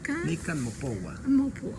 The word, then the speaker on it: Nican Mopohua: ¿Cómo lo pronuncia usted? Nican Mopogua.